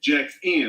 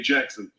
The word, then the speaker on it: Jaxn: Yes, Jaxn. Let me say it right, because I used to say Jackson.